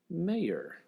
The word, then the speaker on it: Maher: Kat Flippen also graced us with her presence today, as well as Ashley Maher, kind of like John Mayer, but she spells it M-A-H-E-R.